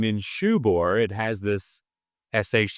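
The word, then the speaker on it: Ninshubur: But I remember the first time hearing, who the hell is Ninkubor or Ninkubura? Anyway, but it's Ninshubor. It's because that C is, anyway.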